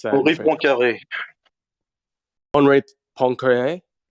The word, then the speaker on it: Poincaré: How would you pronounce that in Henri French? Poincaré.